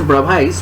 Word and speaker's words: Bravais: the fourteen brow lattices actually the spelling is bravais but its pronunciation is brava okay so and now